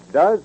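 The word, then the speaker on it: Duz: Remember, Does is a new kind of granulated soap, not just a new improvement of an old soap.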